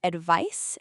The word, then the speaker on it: advice: The word advice is spelled with a c. It ends with an ice sound.